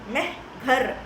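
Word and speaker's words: Mehrgarh: ஸோ அந்த village பேர் என்ன அப்படின்னா மெஹ்கர் அப்படின்னு சொல்லுவாங்க. ஒரு சில பேர் மெஹ்க்ரா கூட ப்ரொனவுன்ஸ் பண்ணுவாங்க, ப்ராப்பர் நவுன். ஸோ எப்படி வேணாலும் ப்ரொனவுன்ஸ் பண்ணலாம்.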